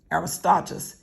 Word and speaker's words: Aristarchus: So we see that this man, whose name is, how do we pronounce his name? Aristarchus.